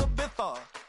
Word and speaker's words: Ibiza: Yeah, it's pronounced Ibiza, actually. Yeah. What's the difference, man? Ibiza, Ibiza, you won't see me in neither.